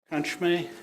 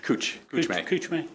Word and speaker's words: Kuchme: We'll have the attorney for the opposition, Mr. Kunchme. Kuchme. Yes. Thank you for the correction of the pronunciation.